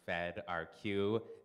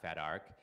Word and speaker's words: fedrq: which is my tool pronounced fed RQ not fedar is a repository quering